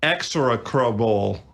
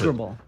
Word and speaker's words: execrable: It is an execrable. I mispronounced Execrable.